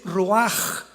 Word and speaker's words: ruach: La palabra para espíritu en el hebreo es la palabra que es roaj, que se escribe ruach con ch. Pero repito, ese pronuncio pronuncia como J. Roaj.